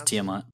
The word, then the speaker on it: Tiamat: No, it is Tiamat. It's Okay, pronounced Tiamat.